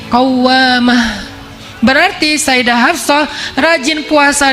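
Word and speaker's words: قوّامة: Kalau rajin sholat malam dikasih tasydid, bacanya jadi qawwamah.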